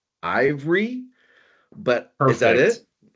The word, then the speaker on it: Aivre: Um, I need to know how we're going to pronounce the name of your company. I've been saying Ivory, but is that it?